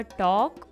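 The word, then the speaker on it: talk: इसी तरीके से होगा टॉक और वॉक। टॉक में भी L साइलेंट है और वॉक में भी L साइलेंट है।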